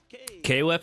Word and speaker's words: KOF: I like how stage KOF is pronounced as cough here in Brazil.